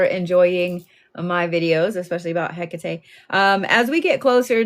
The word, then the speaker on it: Hecate: And I just want you to remember that she's Greek. She is a Greek deity. Um, so it's not Hakkat. Um, it is Hecate.